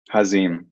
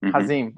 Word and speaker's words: Hazim: Am I pronouncing it right? Hazim. Hazim.